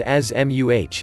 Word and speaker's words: asthma: What is asthma anyways? Asthma, pronounced AZ-muh, is a chronic, long-term, inflammatory disease that makes the bronchial airways particularly sensitive to irritants such as air pollution.